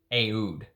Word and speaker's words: oud: And that's how the people in the Middle Eastern countries pronounce oud, Aoud.